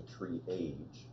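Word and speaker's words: TreeAge: So Triage is pronounced Triage is actually Triage.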